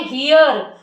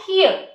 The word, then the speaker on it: hear: को बोलना कैसे चाहिए कई बार हम क्या करते हैं हम बोलते हैं हियर तो हमें जो लास्ट में र की आवाज आती है उस पे कम स्ट्रेस डालना है और हमें बोलना है हियर लास्ट का आर लगभग लगभग सुनाई नहीं देना चाहिए हियर और हियर मींस